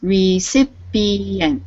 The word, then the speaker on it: recipient: again for me please recipient yeah recipient yeah so there's recipent that's four syllables remember make sure you get all four syllables in there okay and uh Danielle